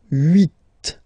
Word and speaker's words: huit: Then here, final T is pronounced, so huit.